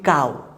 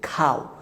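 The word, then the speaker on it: cow: তারপরে যে ওয়ার্ডটি আছে সেটি হচ্ছে, আমরা বলি কাউ, কিন্তু উচ্চারণটি হচ্ছে খাও, সি প্রথমে বসলে এটি উচ্চারণ হচ্ছে খা, খাও খাও খাও, খাও মানে গরু, খ্যাট খ্যাট খ্যাট, খ্যাট মানে বিড়াল।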